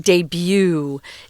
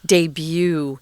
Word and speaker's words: debut: so a debut the the reason why it's weird in its pronunciation guys and it's not deb is because it's french so you pronounce it debut debut um so this was